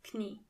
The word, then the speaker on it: Knie: Knee means das Knie. And in German, you have to pronounce the K.